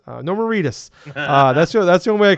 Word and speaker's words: Norman Reedus: What's God, it rhymes with fetus. Norman Reedus.